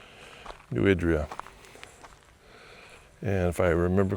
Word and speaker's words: New Idria: I think this whole video I've been saying New Idria. She pronounced it New Idria.